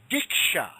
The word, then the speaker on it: Diksha: When initiation is given, this is called Diksha.